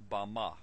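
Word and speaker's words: במה: Strong's Hebrew Dictionary, and it is pronounced Bama.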